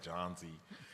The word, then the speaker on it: Jonzi: How would you pronounce J-O-H-N? Z. Yeah? Because I will say J-O-H-N as John, and it sounds like I'm saying Jones, but I'm not. Yeah? So you guys say Jonzi.